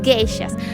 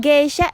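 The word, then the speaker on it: 芸者: conformado por dos canchas la primera significa los l gay qué quiere decir artes de las artes por ejemplo la música el baile la danza etcétera y el segundo kanji que se pronuncia ya quiere decir persona entonces en si la geisha es una persona dedicada al arte ahora les quiero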